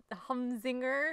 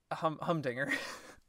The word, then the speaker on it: humdinger: This is going to be a humzinger. Don't worry. How do you say that? Humdinger.